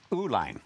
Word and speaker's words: Uihlein: And what was the original pronunciation and spelling? Ooolline.